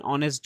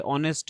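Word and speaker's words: honest: তাহলেশি ইজঅান অনেস্ট girl. অনেস্ট এর আগে এইচটা কিন্তু সাইলেন্ট আছে।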